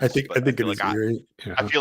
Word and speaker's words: Erie: mispronounce Erie. Yeah, I'm pretty sure it's Erie. I mean, I grew up on Lake Erie. I don't know if that counts. I think but it is Erie.